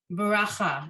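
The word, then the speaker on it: ברכה: Baracha, exactly.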